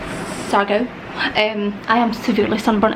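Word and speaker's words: Siargao: in a place called it's spelled like sea Argo but this sounds like Sago um I am severely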